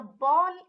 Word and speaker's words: Ball: Now the ball in English is written the same way in German but pronounced Ball. So the A changes to A and the word gets